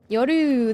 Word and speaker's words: Yoru: I should play Yor Yoru or Yoru. That's how you say it.